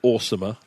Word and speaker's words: OSAEMR: Yeah, you may choose to pronounce it awesomer.